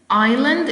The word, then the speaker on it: island: Island is a noun and the silent letter is yes, S.